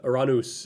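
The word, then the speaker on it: Uranus: name is um yes that's the iranus is uh i was taught is the greek pronunciation of it and it's my uh preference most of the time so uh it's the you know that's how they would pronounce the greek uh god so subsequently we pronounce uh the planet as such or can you don't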